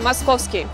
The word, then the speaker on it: Московский: Здравствуйте открываем для себя поселение Московский да-да именно так правильно произносится его название внушительную часть района занимают